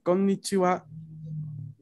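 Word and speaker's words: こんにちは: Este saludo en romaji vemos cómo tiene doble N, ¿no? Konnichiwa. Pero la división sería ko, n, ni, chi, wa. Entonces, cuando tenemos la pronunciación, a veces no se escucha que es una doble N. No es tan claro. Pero escribiéndola nos damos cuenta, ¿no?, que es así. Konnichiwa, que tendríamos que pronunciar primero con, luego ni. Konnichiwa.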